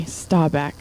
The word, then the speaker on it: Staubach: Okay, Staubach.